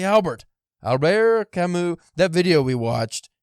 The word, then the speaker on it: Camus: it up Albert Camu always say Albert Alber Camu that video video we watched that guy's pronunciation was on point like the character R